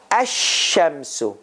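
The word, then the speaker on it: الشمس: to say asham so do you hear lam sound in it ash shamsu remember alakamaru lam sound was there here asham asham so there is this ash ash lam has disappeared so here let's that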